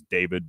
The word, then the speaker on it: D4VD: And his name's David, but it's spelled D4VD.